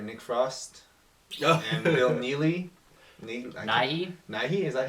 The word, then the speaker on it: Nighy: Nighy? Nighy, is that how you pronounce his name?